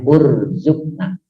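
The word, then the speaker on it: urzuqnā: Jadi kalau diputus bacanya urzukna.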